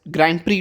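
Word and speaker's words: Grand Prix: हम कह सकते हैं ग्रैंड प्रिक्स ग्रैंड प्री tournament इसको प्रिक्स नहीं कहते हैं ग्रैंड प्री कहते हैं एक्स इज the silent here ठीक है तो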